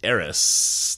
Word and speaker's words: Eris: a very roundabout way this here is Eris that's the proper way to pronounce it with a lung s at the end and Eris discovered in